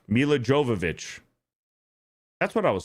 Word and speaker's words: Jovovich: Um, Jovovich. Mila Jovovich. That's what I was saying, right? Mila Jovovich. What was I saying? Djokovic.